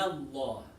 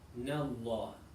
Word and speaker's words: Allah: The fatha is not heavy. The lam in Allah is heavy. So you say Inna Allah, Inna Allah, Inna Allah, Inna Allah, Inna Allah.